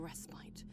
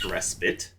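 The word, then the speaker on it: respite: may offer a fleeting restite from the damnation which lies in perpetual weight. Okay, that was quite the forward. Also, it's pronounced respit.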